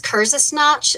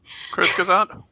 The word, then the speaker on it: Kurzgesagt: If anybody hasn't watched, I think it's Kurzgesagt is how you pronounce it on YouTube. Bless you. That's some good shit. Kurzgesagt?